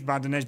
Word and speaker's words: Bardonecchia: So it says Bardonecchia, but that's like the French way to pronounce it.